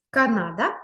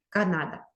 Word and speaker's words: Канада: треба ке не да Канада наголос на перший склад Канада наступну країну яку ми